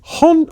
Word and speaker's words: Hauntë: So, I just I'm called Haunt because it rhymes with Bronte.